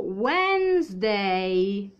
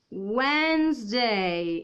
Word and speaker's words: Wednesday: mercoledì e abbiamo wednesday mi raccomando wednesday ovviamente questa di ragazzi e muta non si dice quindi wednesday intanto ragazzi ciao a